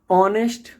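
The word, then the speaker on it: honest: को नहीं बोलना है अगर एच के बाद ओ आ जाए तो आपको एच का प्रोनंसिएशन हा नहीं करना है ऑनेस्ट ऑनर आर इको देखिए इको तो इसमें हम ऑल टाइम एच को साइलेंट मानेंगे अब बात करते हैं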